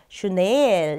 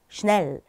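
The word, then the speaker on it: schnell: 이거 같은 경우도 슈넬 이렇게 길게 발음하지 않고 슈넬 짧게 한 템포로 발음을 한다 기억해 주시고요.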